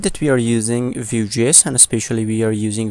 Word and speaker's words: Vue: And first of all, what's VueJS? Now if you see the documentation of the VueJS, Vue, pronounced like Vue, is a progressive framework for building user interfaces.